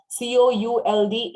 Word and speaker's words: could: L is silent. W-O-U-L-D is would. लकड़ी के हम क्या बोलते हैं? would, है ना? ऐसे बोलना है. Would. C-O-U-L-D is could.